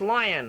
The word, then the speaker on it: Lyon: It's pronounced lion, I believe.